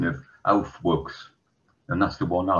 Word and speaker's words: Aufwuchs: However, you do have to be a little careful if you're using the German pronunciation of Aufwuchs, that people do not think you've said something else unfortunate.